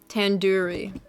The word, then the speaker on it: tandoori: at least you recognize tandoori chicken you're saying it wrong wait really Tandoori Tandoori oh the Dew isn't like door it's in it's like doo-doo head tandoori chicken okay are